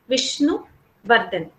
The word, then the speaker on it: Vishnuvardhan: For if you just take the name Vishnuvardhan, you cannot pronounce it Vishnuvardhan. Okay, you say Vishnuvardhan. You divide it. You take some breath in between and you divide it. Vishnuvardhan. Okay, this is how you divide.